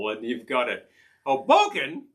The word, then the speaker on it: Hoboken: just sounds homey Hoboken you need to actually pronounce this put the accent on the second syllable one you've got it Hoboken Hoboken you know it's a